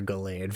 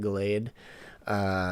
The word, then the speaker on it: Gallade: Eli has a I'm gonna say he has like a Gardevoir or Gallade for some reason, like something in that vein. Like, Again. is that how you pronounce it? Gallade, Gallade, yeah.